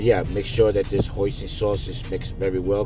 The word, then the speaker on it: hoisin: my hoi main sauce hoisting sauce I keep mispronouncing it hoisin sauce I bought a good tablespoon of it yeah I keep saying hoy mean because that was one